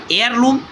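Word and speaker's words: heirloom: एंड नाउ आवर एयरलूम, यहाँ ये silent है फ्रेंड्स, एयरलूम मीन्स क्या होता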